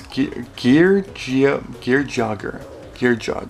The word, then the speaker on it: Geargia: you in a way it looks like it's saying like Gage, but it's no, it's Gear Jogger.